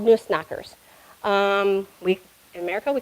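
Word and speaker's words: Nussknacker: these guys were Nunes in German were called noose knockers um we in America we call them nutcrackers but it's the German pronunciation so the Noose knocker um and one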